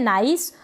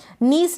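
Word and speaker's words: nice: फिर यह है नाइस। तो नाइस में भी C को स पढ़ा जा रहा है, E है लास्ट में, इसलिए ये जो I है इसको I पढ़ा जा रहा है। याद रखें, नीस ना पढ़े।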